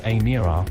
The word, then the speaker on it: Emira: The Emira, pronounced Emira, will eventually be priced from £59,995 and is